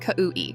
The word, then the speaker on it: Kau'i: My name is Kau'i, it's Hawaiian. And yes, I know it looks hard to say, but it's literally just Kau'i, 3 syllables.